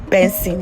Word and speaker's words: BNXN: stage name from budu to bnxm which is pronounced as bensing yes it's still benzene but it's just the